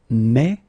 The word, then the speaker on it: mets: Keep in mind that phonetically you pronounce them the same here. Mais, mais, mais. Okay?